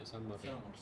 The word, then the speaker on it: Sumer: That's how you pronounce it, yeah, Sumer.